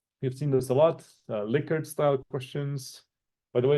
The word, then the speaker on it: Likert: We've seen this a lot, Likert style questions. By the way, it's pronounced Likert, not Likert.